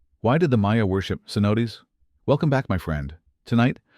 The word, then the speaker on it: cenote: Cenote pronounced cenote.